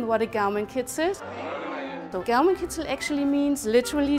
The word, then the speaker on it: Gaumenkitzel: All right, so how's my Gaumenkitzel? Is that? Your pronunciation is excellent.